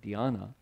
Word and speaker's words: dhyana: Chan is the Chinese pronunciation of the word Dhyana.